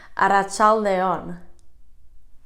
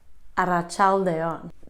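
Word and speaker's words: arratsalde on: we're getting into a little more complicated territory at a child a on about child a on okay stick with me because to say good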